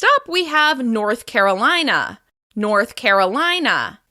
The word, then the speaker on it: North Carolina: North Carolina. This state is stressed on the third syllable of the second word.